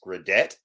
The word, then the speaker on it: Gradet: hate to start on a contrarian note it's gradet but uh quite quite all right we'll go